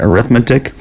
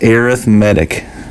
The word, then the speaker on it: arithmetic: first type it's called arithmetic it kind of looks like arithmetic but it's arithmetic sequences how that's pronounced the arithmetic